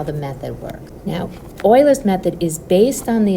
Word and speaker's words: Euler: equation and that's called Oilers's method. And yes, I know it's spelled with an eu but it's actually pronounced like oilers. Okay, like an oil rig.